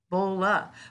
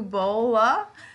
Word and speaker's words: Bohle: it a shot sue i know it's not bole because i think you taught me that it's sue bol bola well today's guest and